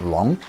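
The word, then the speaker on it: 龙: If there is one single mythical creature that is most associated with Chinese culture, it is the Chinese dragon, which is pronounced long.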